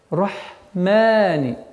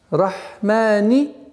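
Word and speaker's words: الرحمن: Рахмани. Ударение два счета. Рахмани. Рахмани.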